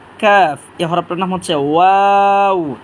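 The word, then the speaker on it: ق: হরফটার নাম হচ্ছে কাফ জিহ্বার গোড়া থেকে একটু সামনে বাড়াইয়া তার বড় বড় উপরে তালুর সাথে হরফটা আমরা উচ্চারণ করব তিনবার করে উচ্চারণ করি কাফ কাফ কাফ এই হরফটার নাম হচ্ছে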